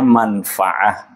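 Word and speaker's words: منفعة: Di antaranya adalah manfaat, manfaatun dalam bahasa Arabnya, dalam bahasa Indonesia ada manfaat, manfaat tanpa pengucapannya tidak menggunakan ain. Dalam bahasa Arabnya manfaah, manfaatun. Ada banyak lagi.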